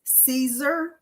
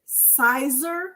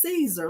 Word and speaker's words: Siser: that I prefer is Caesar I used to pronounce it Sizer when I first got started and then someone said Yolanda is Caesar like a caesar salad and I was like